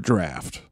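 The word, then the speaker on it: draught: so here's the thing that is just the word draft d r a u g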